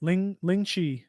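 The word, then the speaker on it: 凌遲: about How do this you on the pronounce first it? recording a little bit. You got it. Ling Chi.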